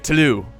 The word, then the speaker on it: Toulouse: Toulouse the county of talut I should say that there's no F you don't pronounce the S and there's there's sneakily